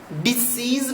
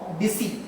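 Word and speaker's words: Disse: बोलते हैं space of डिसी। डिसीज नहीं, डी। इसको आप सुनने में इसको डीसी सुना जाएगा, यानी डी और सी सुना जाएगा, पर इसकी स्पेलिंग अगर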